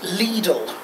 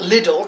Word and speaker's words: Lidl: so they can expand it yeah it's actually pronounced Lidl yes sir it seems that most of us Brits have been pronouncing it with the cotton I never knew I was pronounced it little cuz you know it's Lidl I don't think